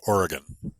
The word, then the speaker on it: Oregon: You pronounce it Oregon. Oregon. Yeah. Okay, Oregon.